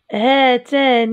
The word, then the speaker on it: هاتان: الالف تنطق ولا تكتب هاتان هاتان هاتان فتاتان منخرطتان في برنامج زراعه الف شتله اذا هاتان نكتب الالف وننطقها هاتان هؤلاء زوار هؤلاء زاروا